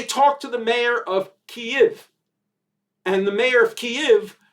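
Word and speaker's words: Kyiv: sent memos particularly cnn say k-e-e-v that's what you got to say keeve so these robots on cnn they talk to the mayor of kiev and the mayor of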